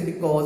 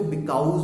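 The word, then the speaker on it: because: जो वर्ड जैसे बिकॉज word है, समटाइम स्टूडेंट क्या करते हैं उसको बिकाउज बोलते हैं। ठीक है, so this is vocabulary, this is your pronunciation mistake.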